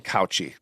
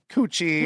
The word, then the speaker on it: Couchy: with my last name, and my last name is not easily pronounced. Trust me, that people butcher my last name all the time. My name is Couchy. There's people would say Coochie or Crotchy or Cooch or Couch.